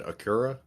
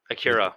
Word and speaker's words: Acura: listening he said uh i think you said akura akira yeah yeah we pronounce it acura yeah i pronounce it both ways akira acura my dad my dad